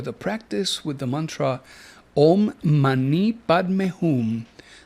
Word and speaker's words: Om Mani Padme Hum: Tonight, we have in store the practice with the mantra OM MANI PADME HUM that Samael has asked us to pronounce OM MASI PADME HUM.